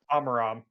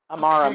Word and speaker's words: Amaram: Amaram. Amaram. Okay. Look, some people don't deserve their names to be pronounced properly.